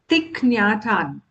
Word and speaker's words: Thich Nhat Hanh: So he's from Vietnam and his name is pronounced as Thikyatan.